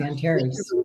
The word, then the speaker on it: Antares: Antares, if that's how you pronounce it. Yeah, it's Antares.